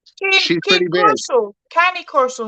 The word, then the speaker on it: Cane Corso: Just remember, She's it's from amazing. Italy, right? It's from Rome. So try and pronounce it like you're an Italian.